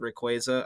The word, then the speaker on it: Rayquaza: the Cornucopia by the way you're supposed to pronounce it Rayquaza I don't know why I said Rayquaza but